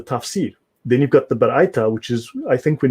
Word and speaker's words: Baraita: Please pronounce the word. Right. So you've got Baraita. Baraita.